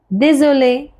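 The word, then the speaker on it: désolé: slow दे ज़ूले दे जो देले means sorry देजोले sorry और यस one more word is there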